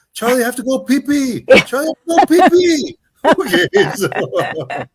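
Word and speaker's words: Phi Phi: And it's but it's pronounced pee pe just so people understand.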